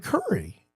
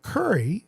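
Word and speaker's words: Kurri: And the answer is Yari Curry uh who has 106 goals in the playoffs.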